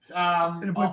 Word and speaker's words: Assiniboine: Bonifire, if I'm saying it correctly, Assiniboine Park. Assiniboine Park, yeah.